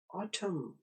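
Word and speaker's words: autumn: आ, उर्दू में अलिफ मद आ, और दूसरी आवाज TUM की आवाज है जो टी और एम से भी आवाज बन जाती है, ठम। उर्दू में थे और मीम ठम, तो ये हुआ आ ठम, ऑटम। अपने स्पेलिंग AUTUM याद रखने हैं। ये वाले स्पेलिंग आपको सिर्फ आवाज समझाने के लिए इस्तेमाल किए हैं, ऑटम, खिजां।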